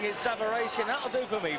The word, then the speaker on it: Savarese: world still on the comeback Trail against Lou savaresi as we will call him the Italians behind us are pronouncing it savaresi and that'll do for me Frank Savar I